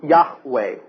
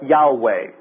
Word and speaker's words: Yahweh: Moses my name is the Hebrew letters are y h w pronounced yahwe or Yahweh so what's that mean